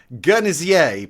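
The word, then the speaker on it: Guernésiais: Guernsey which is um guernsier pronounced with a soft G like like the word gin so the journey CA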